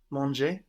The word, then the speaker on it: mangé: the ER ending, and then manger with an E with a written accent, meaning eaten, but sounding exactly like to eat, manger. So, I have eaten. J'ai mangé.